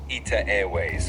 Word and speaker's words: ITA Airways: In Italian, you'd pronounce it as ITA Airways, kind of like...